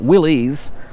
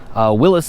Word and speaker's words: Willys: The reason I say Willys is because this is a Willys trim, not Willys. Willys is the correct pronunciation I've heard from a number of different